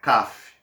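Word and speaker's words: כף: CAF um pouco diferente mas essa é a pronúncia né CAF dando continuidade aqui aa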